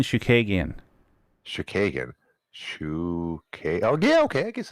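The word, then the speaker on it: Chookagian: she lost her last two to Chunigan. That's not even anywhere close to how you say that. Well, prove me wrong. How do you say it? Caitlin Shukagian.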